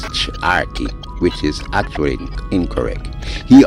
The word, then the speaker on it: Charqui: And the CH with the, he called it a hyphen, I say apostrophe, is not pronounced ch as in Charqui, but a TS.